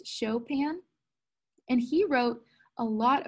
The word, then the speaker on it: Chopin: although this looks like he would say it Chopin, but it's actually pronounced Chopin.